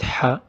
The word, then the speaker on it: ح: Notice that it's similar to ha, but it is sharp.